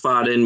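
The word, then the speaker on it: Faden: that was good yeah Fadden pronounced foden means thread and refers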